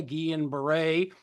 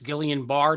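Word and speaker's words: Guillain-Barré: we in Pennsylvania in fact actually had a gan Beret or uh if it's Gillian bar disease whichever way you pronounce it um we actually had a case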